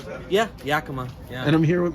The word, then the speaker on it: Yakima: Yeah, Yakima.